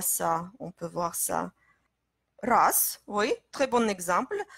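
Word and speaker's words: раз: Race, oui, très bon exemple. Race, on écrit R-A-Z, mais Z, on prononce comme S, et ça devient race.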